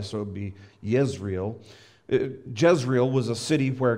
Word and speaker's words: Yisrael: sounds like Israel the the Jay's in Hebrew are actually pronounced with a with a Y so be Yisrael Jezreel was a city